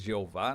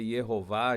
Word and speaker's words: Yahweh: Quando tratamos, eu falo aqui algumas vezes Jeová, né? Eu estou tratando do Senhor, que essa pronúncia pode ser Yehová, Javé, Yahweh, nós sabemos exatamente a pronúncia, mas sempre foi pela fé no Deus da Escritura Sagrada.